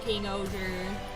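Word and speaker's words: King-Ohger: but I'm pretty sure I saw a Red Ranger from King Oer. That's awesome. I thought it was King Oja.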